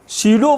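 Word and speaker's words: pseudo: उस फोर्स को शीडो फोर्स बोलते हैं। पी साइलेंट है बच्चों।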